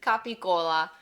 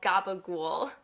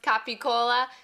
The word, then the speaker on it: capicola: Its proper Italian pronunciation is capicola, but you might have heard it called gabagool, like in The Sopranos. In any case, it's pronounced capicola, so make sure that you say it the